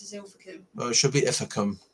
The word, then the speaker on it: Ilfracombe: Yeah, but it's actually pronounced as Ilfracombe.